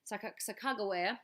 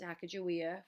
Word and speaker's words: Sacagawea: During that time, Sacagawea, or you've also heard it pronounced Sacagawea, of the Shoshone tribe, assisted as a guide, translator, and negotiator.